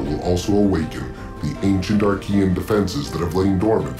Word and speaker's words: Arkeyan: take me to the Aran Armory excellent then the Aran Armory awaits you I really don't like that pronunciation for some reason looking at that name I always want to read it arcan so I will probably